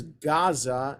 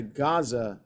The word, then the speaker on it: Gaza: AA in Hebrew is Gaza in English because in Arabic the Ain is a hard G okay so that's why it's called the Gaza Strip not the Aza